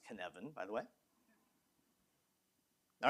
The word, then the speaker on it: Cynefin: That's pronounced Cynefin, by the way. All right, Cynefin was a Welsh term for the habitat.